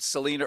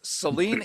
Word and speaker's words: Celine: I said Selena earlier. I apologize. I thought I heard Josh say that. I thought I would jump in and rescue it, but mispronunciation. I rewind that. I can't. It's audio, but it never happened, but it did. It's Celine Gounder, Dr. Celine Gounder.